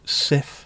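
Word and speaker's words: Cif: Everyone pronounced it differently, but everyone pronounces Sif the same.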